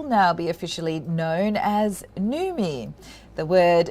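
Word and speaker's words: Noumi: foods group will now be officially known as nume the word newmie pronounced as me is a combination of the words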